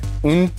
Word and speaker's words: une: Une surface très glissante. You're close. Here the S is silent.